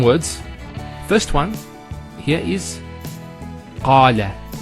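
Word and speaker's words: قال: First one here is qala. Notice the elongation of the A sound. Qala, not qala, qala.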